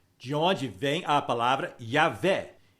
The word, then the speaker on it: Javé: onde surgiu a palavra Jeová mas é um é um erro porque o J é pronunciado como y e o ver se